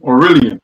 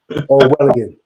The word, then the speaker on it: Orwellian: Aurelian, or how you say it? Orwellian.